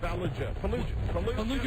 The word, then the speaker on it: Fallujah: Fallujah. Remember, it rhymes with what? Chalupa.